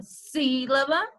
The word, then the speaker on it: sílaba: eu digo sílaba então preste atenção que na palavra sílaba eu digo sim com mais são de cidades